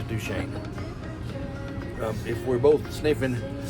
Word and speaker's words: Duchesne: pronounce it here CU I was going to say du chesy but no that's wrong it's du Shane um if we're both